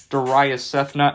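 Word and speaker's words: Darayus Sethna: my name into twitter is spelled d-a-r-a-y-u-s-s-e-t-h-n-a doria cethna at nordonia sports i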